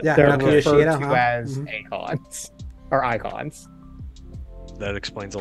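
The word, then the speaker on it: Eikon: Icons. Icons, yeah, they're icons in this one. So funny that I've never actually heard how they're pronounced. So I always called them like Akon, like so the singer.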